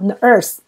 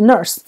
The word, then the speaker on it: nurse: 好， nurse。好，再来 UR， hurt，再来 surf。好， surf 是冲浪， hurt 是痛，护士是 nurse。